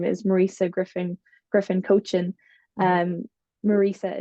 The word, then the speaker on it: Muiriosa: I am on Facebook and my name is Marissa Griffin Griffin coachin um Marissa is spelled m i r i o s a